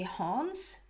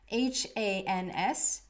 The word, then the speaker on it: Hans: say it in Swedish, I would say Hans, H-A-N-S, but I hear it at like Hans, like a little bit of a German, yeah, like Hans.